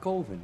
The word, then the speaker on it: Coven: It's pronounced Coven, man. What else could it be pronounced? Coven. That's the proper pronunciation. Damn, dude, it's 4th and 1. No. Coven sounds like oven, man, and that's just, it doesn't work. Coven sounds like oven, that doesn't work.